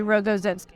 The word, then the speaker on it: Rogozinski: How do you pronounce it? It's actually Rogozinski.